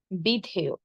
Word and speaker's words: বিধেয়: শব্দের শেষে যদি অন্তস্থ অ থাকে তাহলে অন্তস্থ অ এর উচ্চারণ অন্তস্থ অ এর মতোই হবে, ও এর মতো হবে না। কিন্তু অন্তস্থ অ এর আগে যদি একার বা ইকার থাকে তখন উচ্চারণ হবে কি? ও এর মতো। শেষে ওকার দিয়ে উচ্চারণ করব।